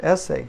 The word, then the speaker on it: ese: and that's a well just think of the word essay in English essay okay that helps this